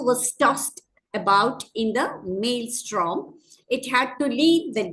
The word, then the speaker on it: maelstrom: That is M-A-E-L-S-T-R-O-M, maelstrom. You do not pronounce that E, but still there is an E there.